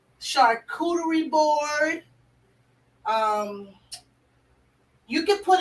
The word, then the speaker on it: charcuterie: it on a chartreutery how you say it charcuterie charcuterie board um you can put it on meatballs